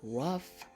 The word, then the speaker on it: rough: words before we have rough and we have laugh both words have an H but the H sounds like an F repeat these words after